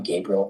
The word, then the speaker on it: Gabriel: By the way, I'm Gabriel and don't call me Gabe. Hey, great son. I love my three syllable name.